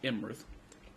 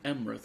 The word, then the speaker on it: Imrith: Auntie I is her name, Imrith. I thought it was spelled with an E. Sorry. I know, and that's why you said Emrith earlier, and fucking Ethbert, or whatever you call the king.